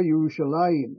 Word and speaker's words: Yerushalayim: The earliest mention of Jerusalem, or Yerushalayim, as we pronounce it, is found in the Egyptian execration text, the curse texts from Egypt that were written in hieratic script.